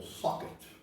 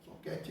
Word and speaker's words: socket: nós estamos falando do soquete ou socket como queiram a pronúncia soquete mais a portugues que o que que